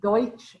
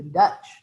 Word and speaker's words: Deutsch: immigrants when they arrive they call themselves the deutsche and that gets mispronounced to the dutch and so people think